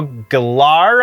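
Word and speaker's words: Gellar: Freddie Prinz Jr and Sarah Michelle galar I think is how we're supposed to say her name now uh we're said to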